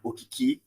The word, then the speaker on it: Okiki: So Okiki, Okiki. It's a Nigerian name. I'm from Nigeria, so you can pronounce it any other way, but it's just Okiki. It's pronounced how it looks.